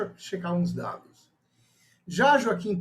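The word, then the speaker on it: Joaquín: chegar os dados já joaquin turina ainda não é Joaquim é foque a pronúncia em espanhol era um compositor nacionalista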